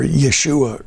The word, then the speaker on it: Yeshua: And so, but without the name Joshua Messiah, or as it would be pronounced, Yeshua Messiah, without the Messiah part, that means the anointed one.